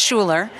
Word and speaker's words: Schooler: oh yes of course it's like school but it's pronounced Schuler s c h o o l e r and my first name